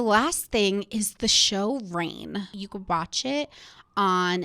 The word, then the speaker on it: Reign: thing is the show reign you could watch it on netflix it's spelt r-e-i-g-n like brain it's a royal show not rain like when it rains outside so basically my friend